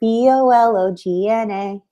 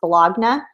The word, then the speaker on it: bologna: Oscar Mayer, B-O-L-O-G-N-A, right? And like, it looks like it's pronounced bologna, but it's like, it's bologna.